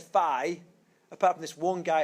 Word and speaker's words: phi: How do you pronounce that letter? Pardon? So, yes, on my tradition, I would call that phi. P-H-I, phi.